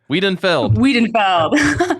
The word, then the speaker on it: Wiedenfeld: Wiedenfeld. Dang it. Yeah, I have to be here. That's easily mispronounced.